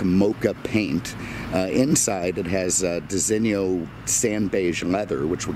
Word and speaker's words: designo: I pronounce it Designo. And I believe that is the correct pronunciation. I mean, it's essentially an Italian thing. And, you know, I just don't see the Italian saying Designo.